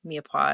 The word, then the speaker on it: mirepoix: It's got lots of mushrooms in it, and it's got lentils and carrots and, mirepoix and all that stuff, but it's just delicious.